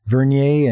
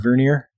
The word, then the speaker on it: Vernier: I've heard it said I've heard it pronounced both ways Vernier and Vernier but yes you're uh